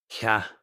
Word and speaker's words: ཇ: Cha. Cha. Cha. Which of the picture is cha? I'm going to give 5 seconds. Cha. Now, it's your turn. How do we read this? Nice. Cha. Pronunciation is cha.